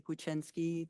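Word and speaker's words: Kwiecinski: having us here uh my name is guiny that is spelled k w i e c i nski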